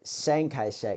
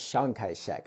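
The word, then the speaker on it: Chiang Kai-shek: Um there was a person before Shankaek which I people pronounce it Sanka it's pronounced Shankaek I promise you and um in this case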